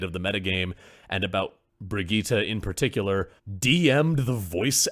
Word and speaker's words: Brigitte: I can't remember how her name is pronounced. Something like Brigitte.